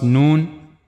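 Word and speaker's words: ن: First one was noon. The origin of letter known is tip of the tongue and it will go connect to gum of the two top front teeth here.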